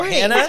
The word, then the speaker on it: Hannah: nope no Hannah just Hannah rhymes with banana Hannah rhymes with banana